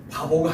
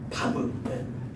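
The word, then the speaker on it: וָו: 예.이 바브라는 단어는 발음을 잘해야 돼요. 바보가 아니고 바브.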